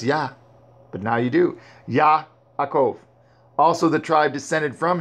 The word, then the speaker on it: Yaakov: But again, Jacob's not his name. There is no J. It's Yaakov.